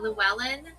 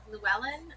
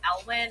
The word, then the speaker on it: Llewellyn: The Llewellyn Llewellyn, I think is how you pronounce it. I'VE BEEN SAYING IT LIKE ELWYN.